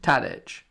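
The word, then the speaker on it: Tadić: Because Tadic is Tadic. No, there's no. Tadic, is it? There's no other way of saying his name.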